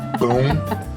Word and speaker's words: pão: It's called boom na chapa. Boom. Boom. Boom. Not pau na chapa.